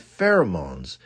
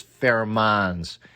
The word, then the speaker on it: pheromones: I had pronounced them as fair-a-mones.